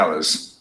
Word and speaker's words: hours: Great, except for the hours. Rất là tuyệt vời, trừ cái gì đó, cái giờ làm việc. Except for the hours. Hours, đọc là hour chứ không phải là hour, hát câm.